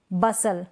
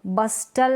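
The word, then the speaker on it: bustle: इसको बसल, बस्टल नहीं पढ़ेंगे, बसल, क्योंकि टी यहाँ पर साइलेंट है, बसल।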